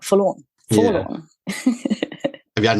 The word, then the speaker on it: Forlorn: At least they're not spelling it like a lawn, like you mow a lawn. Just a four.